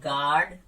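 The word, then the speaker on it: guard: अब यू की कंडीशन, अगर यू से पहले जी आ जाए तो उस कंडीशन में यू लेटर साइलेंट हो जाता है, यू को हम नहीं बोलते हैं। जैसे गिल्टी, गिटार, गैस या फिर गार्ड, या और कंडीशन की बात करें तो टंग।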